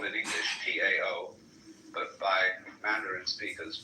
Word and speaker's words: Tao: They might just as well have spelled it D-A-O or D-O-W.